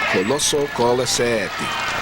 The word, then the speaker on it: Colisetti: That's how he pronounces his name. Coloso Colisetti. That's the way he wants it pronounced.